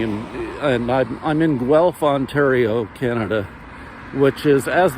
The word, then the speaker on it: Guelph: but anyway Guelph is g-u-e-l-p-h and it's really funny when foreigners uh or conversing with me and they're trying to pronounce the name of my city golf what is that so it's Guelph g-u-e-l-p-h Ontario Canada and